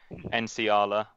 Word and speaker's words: Nsiala: So we had Gherkin in goal, Pennington kept his spot at right back, Nsiala, that's the first time I've pronounced his name correctly on this pod, and Chambers at centre back with Knudsen at left back.